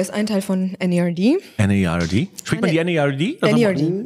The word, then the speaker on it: N.E.R.D.: N-E-R-D. Spricht man die N-E-R-D? N-E-R-D. Ich sage immer Nerd. Nee, N-E-R-D. N-E-R-D. Sind ja Punkte dazwischen. Ja, sind ja Punkte dazwischen. Okay, okay.